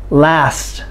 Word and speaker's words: last: say this after me last last l-a-s-t last if you do not say if you do not pronounce the final t d s g you will not be understood it's really really important